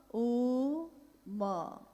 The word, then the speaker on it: ओम: अगर एक साथ सुना जाए उसको, तो उसकी आवाज गूंजती हुई ऐसी है जैसे हम बोलते हैं या उच्चारण करते हैं तो हम कहते हैं ओम, है वो आ उ मा, यानी उत्पत्ति, स्थिति और